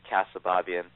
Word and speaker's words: Keosababian: Keosababian. Pretty much, yeah. And my last name is Keosababian. And if you were to read it and pronounce it correctly, the first time you see